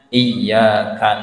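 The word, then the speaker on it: إِيَّاكَ: nggih itu kan ayatnya iyaka na'budu wa iyaka nastain itu iya Pak iya itu nabr juga nggih Ustaz nggih nggih iya iya Bapak Ibu itu bacanya i itu dihentakkan sedikit bukan iya iya Ya naber.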